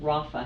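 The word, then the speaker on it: Rapha: I am the Director of Development, and I'm also a board member for an organization called Rafa House. That's spelled R-A-P-H-A. Rafa House means healing.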